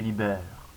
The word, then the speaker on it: Lee Baer: Je m'appelle Libère, prononcé Libère.